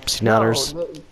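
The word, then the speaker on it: Seananners: Yes, C-Nanners. No, this guy in the chat. Oh. I'm C-Nanners. Get it? Because C-Nanners is spelled S-E-A-N, but it's actually pronounced Sean, and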